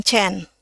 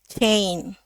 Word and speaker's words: chain: Chain. A. A. Jadi bukan chen chain.